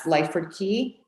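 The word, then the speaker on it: Lyford Cay: name of the high-end community she mentioned that's lyford key that we were speaking about before and that's spelled l-y-f-o-r-d-c-a-y yes correct and um how how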